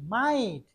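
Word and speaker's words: might: যদি কোনো ওয়ার্ডে আই, জি, এইচ এই তিনটা একসাথে থাকে, তাহলে এই তিনটা মিলে উচ্চারণ হবে আই।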